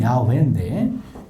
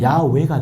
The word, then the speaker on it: 야훼: 그래서 찾아낸 발음이 야훼인데 요 H자가 문법적으로 하면 무음입니다. 묵음이에요. 그러면 야훼가 돼요. 야훼.